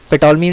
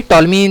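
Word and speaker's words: Ptolemy: पेटोलमी नहीं बोलेंगे, इसको टॉलमी बोलेंगे. पी साइलेंट है.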